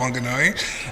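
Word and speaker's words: Whanganui: from wanganui um and there's so many pronunciations of that word but I grew up with it being called wanganui and I proudly say it that way um I grew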